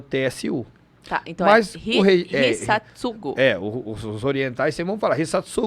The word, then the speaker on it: Hisatugo: O certo é Hisatsugu, porque no japonês não existe o tu, e sim o tsu. Seria o TSU. Tá, então mas Hisatsugu.